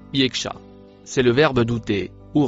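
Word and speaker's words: يخشى: Ici, on peut la traduire correctement par les mots pour celui qui Le dernier mot en rouge se prononce yekacha.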